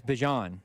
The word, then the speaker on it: Bijan: It's Bijan, and he wants everybody to say it correctly.